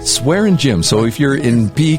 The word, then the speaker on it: Swaringim: Mike and you just told me your name pronounce that again swearing swearing gy so if you're in PE class and you're